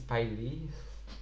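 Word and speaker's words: P'Li: I I would say it's Piley, and I Hey, okay. think that's how it was pronounced in the series.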